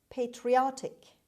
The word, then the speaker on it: patriotic: jest word number six patriotic patriotic patriotic the stress is on the third syllable patriotic the stress is